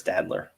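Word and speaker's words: Staedtler: uh how you say it is it stainless stadler yes sadler rick joseph we're just we're winding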